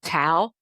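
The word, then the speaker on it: tau: types of proteins called towel T Au pron pronounced like a towel like a towel you use to dry dishes that protein affects the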